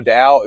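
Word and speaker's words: Tao: Um, oh, real quick, if you wanted to go back, the Dao, if you needed to know how to spell Dao, it's like this, T AO.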